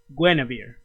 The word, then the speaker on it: Guinevere: Because you you you'll see soon finding enough because uh Dana says it was pronounced Gwen Gwennavir. Okay, Gwen, not Guinea.